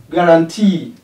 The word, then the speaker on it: guarantee: Three syllable words having stress on the third syllable. Guarantee.